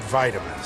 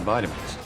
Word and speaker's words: vitamin: In the UK, you'll hear vitamin with a small I, but in the US, it becomes vitamin as though it's a capital I.